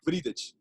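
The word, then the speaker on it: Wriedt: In Portuguese, we say Vridic.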